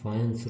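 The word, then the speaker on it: Fajans: आज हम part of द फायंस rule पढ़ेंगे। ध्यान दीजिएगा, स्पेलिंग लिख रहा हूँ मैं FAGAN, लेकिन इसका प्रोनाउंसिएशन है फायंस रूल।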